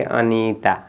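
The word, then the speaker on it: Anita: टी ए तो आप यहां पे इसको पढ़ेंगे अनीता क्या पढ़ेंगे अनीता पढ़ेंगे ठीक है ना य आप अनीता ऐसे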